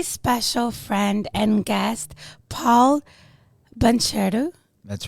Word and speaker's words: Bancherau: friend and guest, Paul Bancherau. That's right. Did I say it right? Absolutely. Perfect. Bancherau. Bancherau. Yeah, Thank you said you. it with a nice French accent.